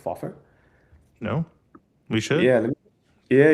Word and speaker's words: FOFR: Um, yeah, but basically, if you go to Foffer's site, you can see these like really incredible demos.